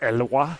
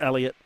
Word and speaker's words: Elliott: And I started thinking maybe it's French for, it could be pronounced Eloi or something. But it is Elliott. And thank you very much for that, Sean Lins.